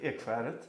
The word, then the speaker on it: Ekskäret: couple of years ago, and I hope I pronounce it correctly. It's called the Ekskäret Foundation. Yeah, that's correct. Ekskäret.